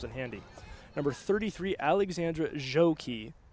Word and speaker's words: Gjokaj: This is where the pronouncing sheet comes in handy. Number 33, Alexandra Joki, spelled Gjokaj.